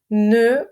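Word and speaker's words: ne: У французів ще теж є не, тільки читається н, як в слові льон.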